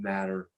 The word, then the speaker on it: mater: Those are called pia, it's pronounced matter, but it looks like mater.